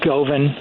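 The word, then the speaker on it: Govan: guy named Guthrie Goan go V an he probably pronounces it goven he's an English guy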